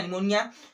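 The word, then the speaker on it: pneumonia: n आता है तब भी p को नहीं पढ़ते, तो इस p को नहीं पढ़ेंगे, यहाँ से पढ़ेंगे न्यूमोनिया। ठीक है, नाम सुने होंगे न्यूमोनिया, है ना, निमोनिया।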